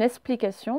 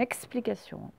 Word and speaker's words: explication: Alors, il y en a quand ils prononcent, ils disent une explication, mais non, c'est une explication.